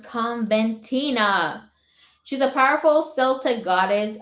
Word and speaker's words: Coventina: About goddess Coventina, pronounced Conventina.